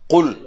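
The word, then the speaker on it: قل: ஆரம்பத்துல வர குல் இருக்குதானே குல் அது காப் அது என்ன எழுத்து காப் அதை நாங்க சிம்பிளா உச்சரிக்கிறது இல்ல என்ன செய்யணும் குல் என்று சொல்லணும் குல் குல் கூறுவீராக அடுத்தா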